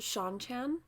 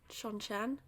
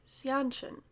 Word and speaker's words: Seanchan: chapters from the as I now know it's pronounced Sean Chan Sean Chan I want to make it feel natural but you know my brain just reads xianchin it's not that so um these are the